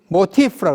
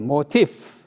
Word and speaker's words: 모티프: 이러한 주제들을 학자들은 모티프라고 합니다. 모티프. 이게 독일 말인데 이제 F 발음 나기 위해서 영어로는 이렇게 F를 씁니다. 모티프라고 합니다.